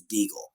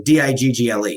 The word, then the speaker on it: Degle: how my grandpa always pronounced it he always pronounced it as deagle he said we're the deagles despite the fact that our specific spelling of the last name is an anglicized version of the last name so d-i-g-g-l-e so that you would if you would phonetically